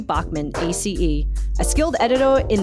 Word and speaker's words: Bachmann: Uh, we've got a wonderful guest today, Bachman. Is that how you pronounce?